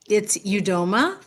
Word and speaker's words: Udoma: It's Udoma. Great. That's the way I've actually been pronouncing it, is Udoma. That's the American pronunciation.